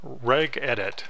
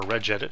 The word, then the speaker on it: regedit: And we're going to type in regedit, or regedit, however you want to pronounce it, R-E-G-E-D-I-T, and click OK.